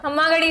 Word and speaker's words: Khamma Ghani: "We say 'Khamma Ghani Sa : Namaste' as a mark of respect. 'Khama Ghani Sa' "Did I say it correctly?"